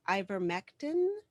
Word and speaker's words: ivermectin: is your opinion and i'm gonna probably mispronounce this uh on using ivermectin as preventative slash treatment drug for covet 19 did i say that correctly yeah recognizable yes yep um so uh